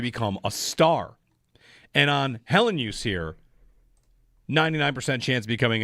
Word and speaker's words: Helenius: a as a city, we don't have to fight about how to say his name. I still think it's Helenius. Helenius. But there are people that hang on the Y a little longer and they naturally just make it Helenius.